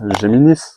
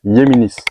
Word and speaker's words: Géminis: Normalement, les gens disent Géminis, mais normalement, on le prononce Yéminis. Yéminis, ok. Espagnol, enfin ouais.